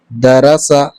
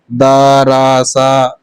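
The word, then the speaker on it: دَرَسَ: کو روا پڑھتے ہیں۔ دراسا، یہ جلدی سے پڑھا جائے گا، ٹھیک ہے۔ داراسا ایسے نہیں پڑھا جائے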